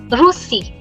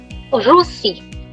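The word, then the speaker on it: Russie: Russia in French is called very simple Rossi. Rossy.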